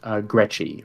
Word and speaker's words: Gretchy: but William is saying last name is gretchy rhymes with sketchy okay like Constantine rhymes